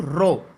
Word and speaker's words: rho: किया जाएगा वो है R is equal to रो L/A।